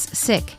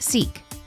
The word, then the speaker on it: Sikh: The Punjabi language pronounces the word as sik and in the US it is pronounced seek.